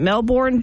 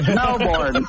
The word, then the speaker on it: Melbourne: hi nail good morning most of us pronounce it Melbourne but he has yelled at me for saying it because that's not how you pronounce it you pronounce it Melbourne Melbourne Australia do you have any questions uh yeah that's uh totally incorrect it's mbor if you're going to be an Aussie you better learn how to speak right God you